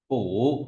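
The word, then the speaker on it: 卜: ta có bộ bốc nói về bói toán đọc là gì phủ đúng rồi rồi sổ xong ta chấm một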